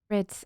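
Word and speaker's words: Bríd: want to see this Brit an Irish version of the name Bridget a famous Irish saint it's pronounced with a long e similar to the English word breed but the finaly is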